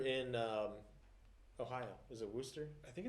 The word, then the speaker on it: Worcester: shire over it's a world chester show that's what we're going to call it from here on massachusetts is spelled like that but it's worcester so uh ronnie martin's